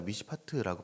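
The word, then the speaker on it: מִשְׁפָּט: 원어로 보니까 미시파트라고 발음을 합니다.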